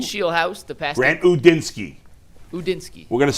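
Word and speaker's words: Udinski: Udinsky.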